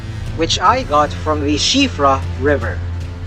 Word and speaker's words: Siofra: I got in the Siofra River. Yes, that’s how you pronounce it, ‘she-fra,’ and it’s in Irish.